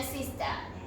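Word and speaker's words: いいです: Có hai chữ i liên tiếp ở đầu từ. Vì vậy, hãy vẽ một thanh phía trên một trong hai và sau đó loại bỏ thanh kia để biểu thị âm thanh kéo dài.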